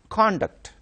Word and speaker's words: conduct: noun and a verb when it is used as a noun the stress should be on the first syllable like for example conduct it means behavior for